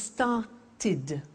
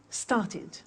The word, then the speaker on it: started: If a verb ends with a T or a D, then the pronunciation of ed becomes id. And in fact, it's impossible to pronounce it any other way. Take an example, start. It becomes started. started, not started, started.